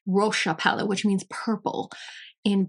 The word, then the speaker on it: Roxa: Apparently, it is pronounced Roxa palette, which means purple in Portuguese, I believe.